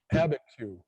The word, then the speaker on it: Abiquiu: Abiquiu. Okay. Right. I can write it out, but I can't know how to pronounce it.